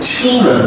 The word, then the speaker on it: children: Ch is very interesting sound because ch is unvoiced, and you push lots of it outside, and you say children. L is also coming here, and then a chill, because there are two syllables here in this word, so the chill, the L is an L sound, it's a dark L sound, so it sounds like a children, okay?